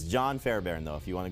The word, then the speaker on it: Fairbairn: Beathard will help the Cardinals VSP can you pronounce the houston kickers full name they're playing dallas his full name though it's it's john Fairbairn though if you want to go John Wesley